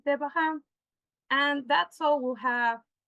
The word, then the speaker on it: Devachan: That is what in theosophy is called Devachan or Devakan or Devahan, depending on how the pronunciation is. I think the right pronunciation is Devahan.